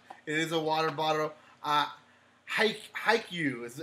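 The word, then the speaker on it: Haikyuu: a cup it is a water bottle ah hike hike you is how you pronounce it there it is so I was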